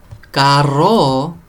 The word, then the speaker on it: carro: You really have to roll your R's because they can mean different things. Caro, for instance, means expensive. Caro. Carro means car.